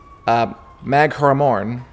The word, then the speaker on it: Magheramorne: say it again macaron it's it's magheramorne yes is is the way that the ladies in it in in the audio we were just putting the wrong and fastest on the wrong syllable throw back thanks so